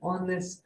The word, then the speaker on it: honest: ಸೊ ಇನ್ the first word H is silent. So next letter is O. O is oval. That is why we used an hour. Second one is an honest man.